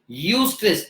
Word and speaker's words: eustress: ई for elephant, यू स्ट्रेस, यू स्ट्रेस, इट is called as यू स्ट्रेस.